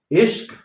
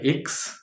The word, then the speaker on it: इश्क: रिक्स मास्क तो माक्स इश्क तो इक्स है ना तो इस